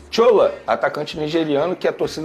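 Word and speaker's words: Shola: tchola mesmo que fala olha eu falo porque primeiro ele é nigeriano ele se a o nome dele é assim que se escreve s h o l a aí eu pronuncio dessa maneira é um atacante nigeriano que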